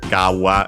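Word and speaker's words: 川: Uh like in this case uh uh by the way kawa uh as a suffix can also be found as gawa instead as usual again with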